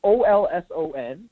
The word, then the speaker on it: Olsen: Olsen. Like I don't know how to pronounce. Okay, it's Olson.